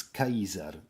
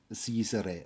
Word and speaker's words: Caesar: And yes, it's Kaiser and not Cesare or something like that because the pronunciation